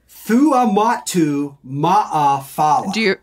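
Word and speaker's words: Fuamatu-Ma'afala: Chris Thuamatu Ma'afala is how you say it.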